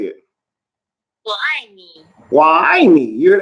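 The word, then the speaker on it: 我爱你: It says that word is wo ai ni. Now it's going to tell me how to say it. Wo ai ni.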